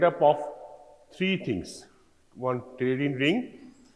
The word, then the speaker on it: pteridine: One pteridine ring, P is silent here, pronunciation is pteridine ring, plus para-amino benzoic acid and plus glutamic acid.